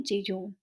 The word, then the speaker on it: jejune: यू एन ई और इसे हम प्रोनाउंस करते हैं जीज इसका यूज एस एन